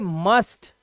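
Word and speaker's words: must: को पढ़ते हैं लास्ट जब भी यू के बाद एसटी आता है तो उसे यू का उच्चारण आ हो जाता है पता है था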